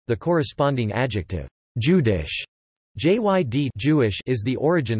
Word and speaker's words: jüdisch: The German word Jude is pronounced Judi, the corresponding adjective Judish, J-Y-D, Jewish, is the origin of the word.